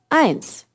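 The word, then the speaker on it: eins: Street pay attention here one is pronounced ants we'll come back to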